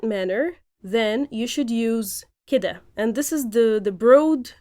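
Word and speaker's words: كده: It has been transformed from keda to kida, but it takes on a range of idiomatic meanings on its own and in phrases.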